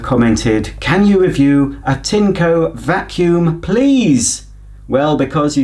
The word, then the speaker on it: Tineco: I'm going to pronounce this brand that I hadn't really heard of as Tineco, because that is how the manufacturers themselves pronounce it on their videos. You say potato, I say potato. I'm saying Tineco.